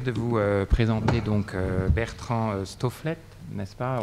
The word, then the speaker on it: Stofleth: Alors donc j'ai le plaisir de vous présenter donc Bertrand Stofflet, n'est-ce pas? On prononce le TH, moi j'aime bien prononcer la fin en effet.